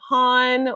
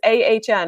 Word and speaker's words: Ahn: I talk to people people are like hon or you know and I'm like no start its Ahn and they're like Haan and I'm like no just never mind it just